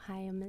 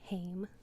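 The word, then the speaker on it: Haim: because it's um it's a they're sisters so hayam is their last name so in the skit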